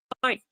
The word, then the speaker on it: knife: right handgun or a knife same for a knife the K is silent we don't say Kai